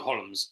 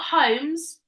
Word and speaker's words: Holmes: say it right uh L is totally right but it's a silent see it's a silent that's not homes holes it's a silent ELD isn't it no it's not silent might be Sherlock HS